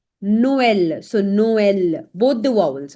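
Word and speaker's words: Noël: Now it is used on two vowels and both the vowels are pronounced separately. So whenever you will see this accent specifically laxonma. So there will be like two dots and you have to make sure that you pronounce both these vowels separately per example.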